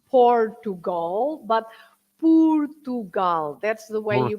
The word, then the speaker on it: Portugal: when you say pugal yeah not Portugal but pugal that's the way you pronounce the word in Portuguese Portugal and P